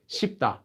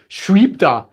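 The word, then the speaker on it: 쉽다: It's not sweep, that would be very difficult to say. It's just pronounced as shipta. So saying the word to be easy is actually quite easy. Shipta. They don't say shweepta or something weird like that.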